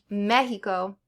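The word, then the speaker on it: México: And it's sometimes pronounced like H. So Mexico and Oaxaca.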